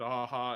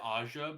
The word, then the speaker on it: Aja: with the art of David aha is just Ursa Asia I always said Aja but I am a white dude from California yeah particular pronunciation but